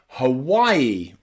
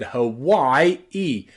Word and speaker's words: Hawaii: names like Taiwan or Hawaii or even Thailand here the A and the I are pronounced I I Thailand Taiwan or Hawaii with that extra e on the end Hawai e practice with me Hawaii